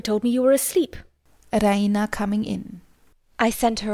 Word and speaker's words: Raina: She pronounces it the Raina with the stress on the E. Raina.